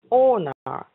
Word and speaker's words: honor: Sherry, I wanna know just line honor. H-U-N-O-R. How do you pronounce? Oh, good. Right here. So right here. It's how when you say honest, the ah sound. It's the same ah. It's honor. To honor.